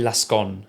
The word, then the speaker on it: Lasconi: It might be Lascon, I think you don't pronounce the I on the end, but who's sort of centre left or quite a centrist candidate.